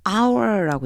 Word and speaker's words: hour: 왜 그러냐면요.요 h가 묵음이에요. 소리가 안 나요. 영어에서 사실 발음하는데 이게 제일 어려운 거 같아요. 소리 안 나는 애들 얘 소리가 안 나요. 그래서요. 없다고 생각하고 our고 읽어 줘야지면 돼요.